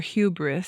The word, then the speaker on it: hubris: One other story we'll talk about which involves the idea of what the Greeks called hybrris or hubris. Sometimes it's pronounced either way.